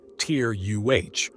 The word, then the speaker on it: Terra: Terra, pronounced Tyr-UH, or in the most